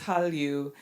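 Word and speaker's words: Hallyu: China um and those characters happen to be pronounced the same in Chinese as well as in Korean so it's Halu um and it was coined back in 1999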